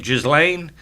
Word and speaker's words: Ghislaine: How do you pronounce that? Ghislaine Maxwell.